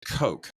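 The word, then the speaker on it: Koch: Well, I know in um in in uh in German it's like like it's it's funny because it sounds like a cough and he's like a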